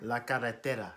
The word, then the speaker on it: la carretera: La carretera. You gotta roll your R. La carretera.